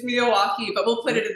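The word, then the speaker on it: Miyawaki: creating this like micro forest with the uh Mayoi method. Is that did I say it correctly? May it's Miawaukee, but we'll put it in the description.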